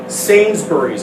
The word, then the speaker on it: Sainsbury's: They have a company called Sainsbury's. I might get the pronunciation wrong.